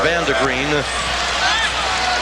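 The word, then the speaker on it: Vande Griend: d e g r i n d but pronounced Vander green and he is a senior six-footer he's seen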